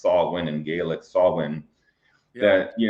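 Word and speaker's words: Samhain: they've been talking about Halloween, it's also called Sam Hayne, pronounced Sawin and Gaelic Sawin that you know, this all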